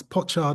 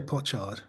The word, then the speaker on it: pochard: that people often um pronounce pochard and poached yeah what do you say I say po i' say potard yeah I got bit sort of more middle class older age yeah i' potard because I'm coming I